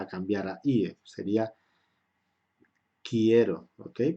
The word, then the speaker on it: quiero: Esta E va a cambiar a IE, sería quiero, ¿ok? Porque la U no se pronuncia, eso lo hemos visto en la fonética.